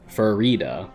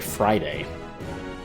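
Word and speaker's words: Farideh: And she pronounces it as if it rhymes with fajita. That's how I remember it. So the author herself pronounces it Frida, Farida.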